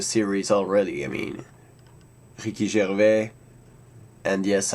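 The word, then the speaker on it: Gervais: already I mean Ricky Jer and yes I pronounce his name in French because uh his father was a French Canadian so this means that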